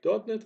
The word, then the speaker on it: .NET: course so let's get familiar with NET Framework NET Framework uh as wred with net and pronounce it like net is a software framework